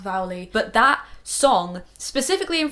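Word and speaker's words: Vuelie: And the Vowley, which I think is pronounced right, I asked my friend Caroline, who's from Norway, and she said it's pronounced Vowley.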